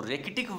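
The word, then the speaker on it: rachitic: तो रेकिटिक जो वर्ड है, क्या प्रोनाउंसिएशन है इसका, रेकिटिक। क्या वर्ड, रेकिटिक।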